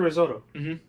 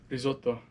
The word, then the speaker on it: risotto: Risotto. There you go. Oh, if you want to say it like American Italian, you forget the last syllable.